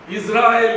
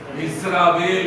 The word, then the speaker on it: இஸ்ராயேல்: இஸ்ராயேல் என்று உச்சரிக்க வேண்டியவர்கள் என்ன உச்சரிச்சாங்க, இஸ்ராவேல் இஸ்ரவேல் தான்.